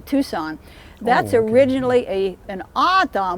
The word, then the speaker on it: Tucson: for a saint and tuxon was the pronunciation at the time of this community tucson that's originally a an